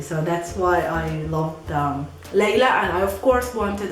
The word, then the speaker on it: Layla: The Arabic way to pronounce this name is Layla, Layla, Layla, Layla.